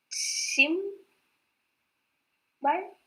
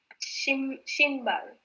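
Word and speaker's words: 신발: What is the final pronunciation? Shinbal. Shim bal? Shin. No. Shinbal.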